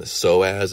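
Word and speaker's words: psoas: I do an exam soaz is spelled uh the Greek it's a Greek word so it's spelled PS o a s p is silent so as muscle this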